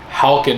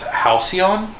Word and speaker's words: Halcyon: And technically, if you look at the English dictionary, Halkin is not even pronounced. It's Halcyon.